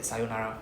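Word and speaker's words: さようなら: So depending on the region in Tokyo we will say s with a long o sound right s in Osaka they will just be sayunara sayunara without the extra o sound.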